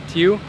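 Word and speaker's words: tiếu: We're gonna take her to my favorite, Tieu. Yes, Tieu.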